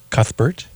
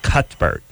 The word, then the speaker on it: Cuthbert: I think it's better I think you don't do the thought whatever I think it's it's like cut bird oh really just I don't know I don't know if the the H is silent I don't know she